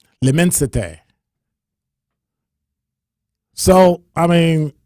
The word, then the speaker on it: L'immensité: It's from Louis Vuitton, and it's spelled L apostrophe IMMENSITE accent aigu, accent grave, one of them. All right. L'immensité.